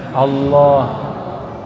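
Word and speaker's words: الله: Lafaz Allah, coba baca Allah. Saya orang Sunda bacanya Allah. Ya, itu bukan, dia lam ketemu lam. Allah harus disambung, bukan mati dia.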